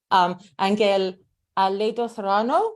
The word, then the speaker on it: Ángel Aledo-Serrano: Here we are today with the amazing, astounding, astonishingly wonderful, more words beginning with A, Ángel Aledo-Serrano. Did I say that right, Ángel? Perfect pronunciation.